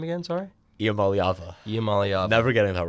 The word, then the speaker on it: Iamaleava: And how do you pronounce his last name again? Sorry? Iamaleava.